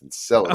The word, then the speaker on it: Enceladus: is around Jupiter, and Enceladus, which we've been butchering the pronunciation of that for a few episodes, but that's how it's pronounced, Enceladus.